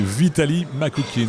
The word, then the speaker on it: Vitaly Makukin: C'est Vitaly Makoukin. Est-ce que je prononce bien, Michel Karpa? Tout à fait, oui.